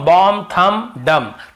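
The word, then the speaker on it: bomb: लेकिन ज्यादातर आप देखेंगे ये सब शब्द में हम एम का दी का उच्चारण नहीं करते हैं कॉम बम थंब ऐसे बोलते द याद रखिए चलिए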